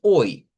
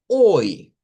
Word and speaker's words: oi: alterna, digamos, al hola, que es hoy, así hoy. Esto es como en el inglés, se han fijado que está el hello y está el high. Igual funciona en el portugués. El hello es como el all y el high del inglés es como el oy.